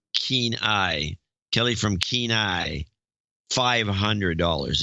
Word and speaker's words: Kenai: Kelly from Kenai. Sounds like Keen Eye.